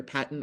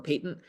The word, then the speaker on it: patent: who you talk to, people pronounce this differently, either patent or patent defect.